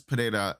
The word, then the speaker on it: Pereira: So Alex Pereira, I have to say it like a Brazilian dude. It sounds based. So Alex Pereira is the only person